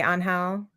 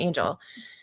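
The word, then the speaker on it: Ángel: And then once I listen to the audio he does eventually say Anhal. Mhm. talking to Lucy about it and he's like, "Yeah, it's actually pronounced on hell, but just call me Angel."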